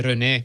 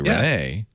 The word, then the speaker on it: Rene: I mean if you're if you're in Quebec you say reene but I mean that's totally no one does that so I'm saying it Quebec qua I'm saying with the accent on the n not the ren no you're doing it